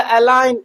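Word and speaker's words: align: क्या हो जाएगा, साइलेंट हो जाएगा। तो हम इसे अलाइन पढ़ेंगे।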